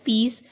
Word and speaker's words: peace: पीस एंड पीस, both the पीस आर pronounced in the same manner. PEAS peace.